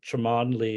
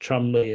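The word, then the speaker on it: Cholmondeley: is like in Britain if you have the family name tremonly it's actually pronounced Chumley and there are numerous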